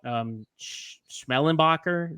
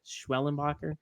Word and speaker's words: Schwellenbach: don't know much about Schmellenbacher. Is that how you say it? Schwellenbacher? Schwellenbach. Schwellenbach.